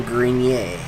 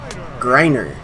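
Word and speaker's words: Greiner: And here's Grayson Grenier. Griner. Okay. I thought maybe that was French. If it is, it doesn't have the French pronunciation.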